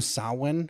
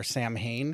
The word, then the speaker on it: Samhain: I I knew that the term sawin or Sam Hayne as like 99% of us pronounce it upon that's how I always did upon viewing it.